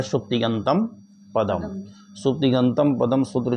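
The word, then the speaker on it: सुप्तिङन्तम्: अब ये जो सूत्र है सुप्तिगंतम, हाँ बहुत से लोग इस सूत्र को का उच्चारण है बड़ा सरल सूत्र, लेकिन उच्चारण गलत कर देते हैं। इसका उच्चारण शुद्ध होना चाहिए। उच्चारण जरा करो एक बार। सुप्तिगंतम पदम, ठीक है ना।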